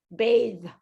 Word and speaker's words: bathe: it actually sounds like bathe baby so the e is actually not fully pronounced it is actually silent but it changes the sound of the th this is the verb